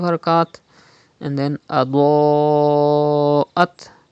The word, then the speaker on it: أضاءت: And then Adoat. Pronounce Dod with thicker voice. And there is Hamza after Alif Madda in the same word. It is Madde Muttasil. You have to read by stretching up to 5 harakat.